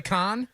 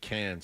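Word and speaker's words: Cannes: I'm concerned about it's khanan the S is silent dummy did I not say con they said cans said cans canis I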